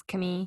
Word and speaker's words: Camille: be a gay storyline, her name's Camille. I think that's how they pronounce it. It's spelled like the American Camille, but I'm pretty sure it's Camille.